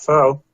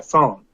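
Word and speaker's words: phở: It's pronounced pho, not pho.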